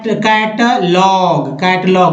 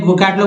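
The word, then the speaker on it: catalogue: जैसे थे कैटलॉग, GUE को ग पढ़ते हैं, कैटलॉग में सूची पत्र।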